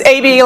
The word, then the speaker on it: Abbey: My name is Abbey, and I'm sorry. I'm sorry, I pronounced it wrong. Oh, that's okay. A lot of people do. It's AB, like the first 2 letters of the alphabet.